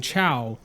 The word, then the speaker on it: Chao: And I think that you have been mispronouncing Chao this whole time. I think they're KOs. No, it's Chao.